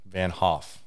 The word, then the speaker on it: Vanthof: T silent, Vanthof. No way. Yeah. If you really spelt it, it's V-A-N, capital T, apostrophe, capital H-O-F. Interesting. But I don't spell it that way. I've heard a lot of people say your name, and I think they've all said it wrong then. Yeah. If the T is silent.